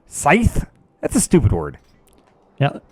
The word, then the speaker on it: scythe: so how do you I've never been good at pronouncing that Sid sies it's Scythe that's a stupid word